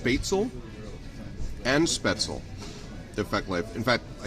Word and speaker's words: spätzle: Well, I've heard it pronounced spätzle and spätzle.